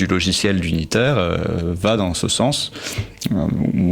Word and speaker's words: Duniter: Euh donc c'est d'unitaire, tu ne prononces pas le D en séparé hein, c'est pas D unitaire d'unitaire.